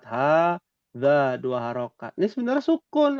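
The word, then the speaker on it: هٰذَا: Ada alif nih, alif kecil. Nih, alif nih. Hadza. Dua harokat. Hadza, dua harokat.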